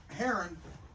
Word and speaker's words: heron: I've got this heron that needs finished. Not Karen. Heron. You know, rhymes with Karen. But, it's not Karen. It's It's a heron.